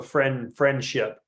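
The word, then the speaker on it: Frenship: I know it's not spelled like friendship, but it sounds like a very friendly place. Yeah, FREN. So friendship.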